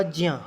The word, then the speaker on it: ज्ञा: मित्रों, ज्ञा, इसका उच्चारण होगा ज्ञा, हम लोग ज्ञा बोलते हैं, ये ज्ञा नहीं है, शुद्ध उच्चारण उसका ज्ञा है, क्योंकि ज और न्या से मिलकर के ये ज्ञ बनता है।